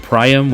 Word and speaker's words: Priam: of my first farmer games and we have priyam and faye pronounces it priam which i will never pronounce it like that